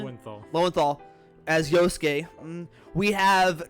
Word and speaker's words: Lowenthal: Lowenthal.